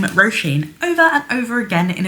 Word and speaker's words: Róisín: That is pronounced Róisín, or Róisín. Róisín is also correct.